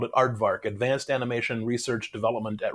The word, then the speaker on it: Aardvark: We called it Aardvark, Advanced Animation Research Development at Rainbow. The K is silent.